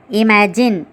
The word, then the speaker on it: imagine: 8th one, imagine, im-ag-in, 3 syllables.